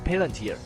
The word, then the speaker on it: Palantír: find it strange I don't know how to pronounce it Its name actually comes from the Palantir in The Lord of the Rings. Palantír It's the crystal ball that can predict the future.